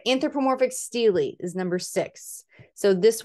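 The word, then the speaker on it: stele: of our artworks and there's a couple different ways to pronounce it but we're going to go with steely steel e steely this is from arabia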